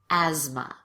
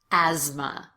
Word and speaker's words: asthma: this last word asthma the th is actually pronounced as a z asthma asthma so be sure to